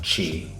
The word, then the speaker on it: Qi: Qi2 is the next iteration of Qi wireless charging. Qi, pronounced Qi, means vital energy.